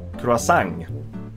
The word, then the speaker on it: croissant: In this case, we pronounce the last bit of the word, even though it's a French word, which should be removing a lot of consonants.